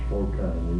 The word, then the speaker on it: Slocan: of was slan myself how do you say d Corporation of the village of slan is correct that's right well now